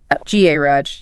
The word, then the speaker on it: garage: Let's take garage. Good one. American English commonly stresses the second syllable. R U Z H. Right. British English often stress is the first GA Raj.